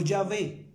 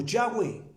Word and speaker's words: Yahweh: Y cuando tiene la doble H indica que tiene la esencia de Yahweh en hebreo, no Yahvé en arameo. Por eso se está pronunciando como Yahweh, el nombre del Padre